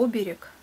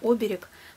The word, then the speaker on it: оберег: еще один амулет и оберег пытаешься справиться я знаю что правильно сделать ударение оберег вот так и тянет сказать оберег как обычно мы это и делаем